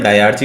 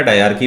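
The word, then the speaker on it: diarchy: डायरची भी बोलते हैं इसको या डायरकी भी बोलते हैं, what ever pronunciation you like आप बोल सकते हैं।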